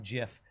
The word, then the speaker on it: GIF: damage I think that's the thing that bothers me about Jiff is GIF stands for graphic something something right but why would you pronounce the geographic like a j like a traffic I don't know its